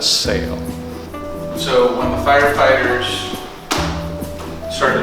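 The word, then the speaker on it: SAAL: and alan lager which the acronym is s-a-a-l and we pronounced that sail so when the firefighters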